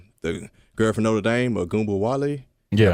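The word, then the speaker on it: Ogunbowale: The girl from Notre Dame, Agumba Wale. Yeah.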